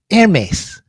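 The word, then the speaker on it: Hermès: like that so so I learned how to pronounce them in French it's called heres heres thank you for that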